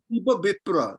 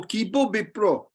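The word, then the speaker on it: কিবা বিপ্র: Remember the A is a O unless it's a long A. So Kibo Bipro.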